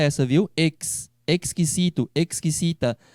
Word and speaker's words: exquisito: Exquisito. A pronúncia do X em espanhol é essa, viu? Exquisito, exquisita. Aonde tem X em espanhol se pronuncia igual a tax.